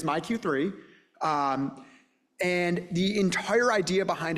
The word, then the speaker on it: MyQ3: So we developed this website called MyQ3, and I have to admit, I always look at it and try and pronounce it Mike, but it is MyQ3.